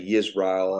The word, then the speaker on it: Yisrael: And the word is here in the text is you hear me say Yasharal. Some people say Yisrael, and I'm just pronouncing it that way. But I say both, whatever comes out.